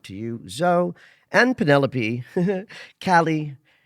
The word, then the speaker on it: Callie: Callie uh rhymes with Sally.